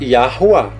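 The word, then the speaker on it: Yahuah: ó e a porque o Yuri vai ter som de ar ali o w é som de u que é um vaso e outro a Esta é a forma correta de pronunciar o tetra Grama só para explicar para vocês então a pronúncia seria mais ou menos assim a portuguesada a pronúncia da yahooá e a rua com R fraco Ok Podia colocar um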